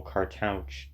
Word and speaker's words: cartouche: reconstruction of the full cartouche doesn't actually, and yes, that is how I'm going to say it, because that's how I say OU and CH. CARTOUCHE. That owl is how I pronounce OU.